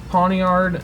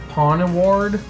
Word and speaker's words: Pawniard: I always pronounced, I don't know why, but I always messed up and said Pawnaward originally, like as if, I don't know, I was like flipping letters around.